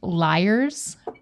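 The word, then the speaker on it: Lyre's: I really like the name of this brand because it's pronounced Liars.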